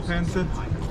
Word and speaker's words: pancit: Burger lumpia, vegetable pancit. Is that correct? Did I say it right? Yeah, vegetable pancit.